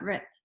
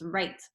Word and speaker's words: right: It's not writ, it's right. The I says I because of the magic E. If I keep saying the E sound at the end, you might even go like this to help you remember I don't pronounce the E. And I might even go like this, long I sound.